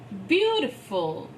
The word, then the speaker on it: beautiful: difficult memory practical capital beautiful by cycle so it's the this word b e a u has a year sound there it's beautiful beautiful beautiful so you the your sound should be there just like the year